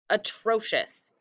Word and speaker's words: atrocious: please clean it up atrocious go ahead take your time sounding out the syllables and the parts of atrocious there we go my friends uh tro we have the ci is the sh sound and then us is